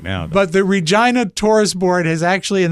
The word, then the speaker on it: Regina: And it's pronounced Regina.